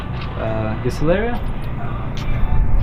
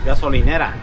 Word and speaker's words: gasolinera: Gasolineria? What? How do you say in Spanish? Gas station. Gasolineria? Gasolinera. Gasolinera. Los Chinos.